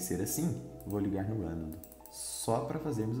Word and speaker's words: ânodo: Muitas pessoas chamam de anodo, mas a pronúncia correta é ânodo.